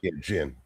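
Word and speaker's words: djinn: Jin the D we don't pronounce the D.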